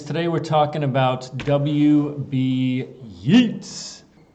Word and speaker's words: Yeats: Yeats. No, Y-E-A-T-S, Yeats. Rhymes with Keats.